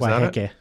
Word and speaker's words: Waiheke: Yeah, is Waiheke. Waiheke, okay. Yeah. Thank you for the pronunciation there.